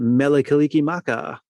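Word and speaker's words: Mele Kalikimaka: Ah, is that Meliki Maka?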